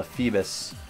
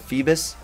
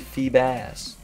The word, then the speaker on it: Feebas: I've been listening to so many people called it Phoebus and it like anger it's a bass I would it not be feebas I don't know though you